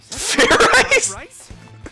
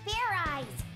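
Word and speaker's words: Fairize: your tension fair I fair I rice it's pronounced fairy there's no ice in it what is this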